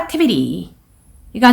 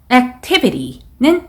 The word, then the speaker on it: Activity: 그리고 Physical Activity가 나왔는데 Physical은 첫 번째 소리의 강세, Activity는 T 부분의 강세예요.